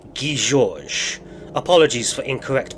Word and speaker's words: Guy Georges: The correct pronunciation of his name is Guy Georges.